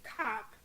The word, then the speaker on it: Kopp: okay I could have my name in it like cop and I also like